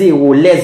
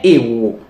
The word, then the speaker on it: héros: Maintenant, il ne faut pas faire la liaison, alors que c'est important et obligatoire avec un mot comportant un H muet, comme homme, un grand homme, et par exemple pour un mot comme héros, les héros de l'indépendance d'Haïti. On ne dit pas les héros, on dit les héros.